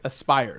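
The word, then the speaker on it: Aspyr: so um aspire sorry thank you uh spider-ditto pronounced aspire so that's the company that's working on it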